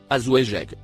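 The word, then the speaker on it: أزواجك: Le mot en surbrillance jaune se prononce azouejek, ce qui a été interprété et traduit par le mot tes femmes.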